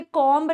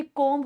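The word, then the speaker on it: comb: कॉम्ब your hair, मैंने आप लोगों को इस वर्ड का प्रोनाउंसिएशन सिखाया था, ये कॉम्ब नहीं होता, ये कॉम्ब होता है, टू कॉम्ब योर हेयर।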